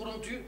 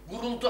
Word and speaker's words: Kuruntu: Bu telefonda efendim bu kuruntuyu guruntu anlıyor. Vallahi o çok asabımı bozuyor yani. Yok yok, bakın ben gayet iyi anladım ve gayet iyi telaffuz ediyorum. Kuruntu.